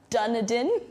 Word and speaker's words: Dunedin: Can you pronounce that last city we're going to? Oh gosh, now I'm going to look bad. Dunedin.